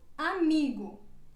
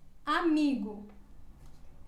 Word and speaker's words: amigo: exemplo avó avó e ela se pronúncia como se fosse uma letra u quando ela vai ao final da palavra por exemplo amigo amigo depois seguimos com a